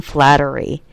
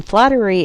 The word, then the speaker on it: Flaherty: And that was Colin Flattery. Colin Flattery is spelled Flaherty.